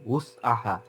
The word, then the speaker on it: وسعها: আর এখানে উস আহা, এখানে যেন হামজা দিয়ে না পড়ি আমরা, ইল্লা উস আহা, ডাব্লিউ ইউ, wow Damma W ইউ, উস আহা। সো এটা উস আহা যদি পড়ি তাহলে হামজা দিয়ে পড়লে এটা মিনিং চেঞ্জ হয়ে যাবে।